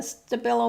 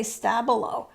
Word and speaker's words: Stabilo: This one again is on deli paper, and I've used, I think, the Stabilo Mark All pencil, and I got it wet, so it's kind of interesting.